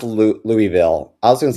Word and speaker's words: Louisville: Oh, it's pronounced Oh, it is pronounced Louisville. I was going to say Louisville. Lewisville.